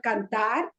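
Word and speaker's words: cantar: practice the conjugations okay just practice with uh kantar okay practice the conjugation with kardar you must have already learned the the conjugation this is it okay so you do it with practice with the word kantar practice with the word e s t u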